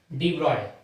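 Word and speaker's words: de Broglie: ये डी ब्रॉगली को many people pronounces eight डी ब्रॉय. बराबर. तो कई जगह आपको ये डी ब्रॉय के नाम से भी चलेगा. फ्रेंच एक्सेंट है, लिखा है वो शायद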